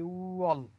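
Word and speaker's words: 월: দেখেন শুরুতে কি আছে, আমি বলেছিলাম এই শব্দটার উচ্চারণ হবে উঅল।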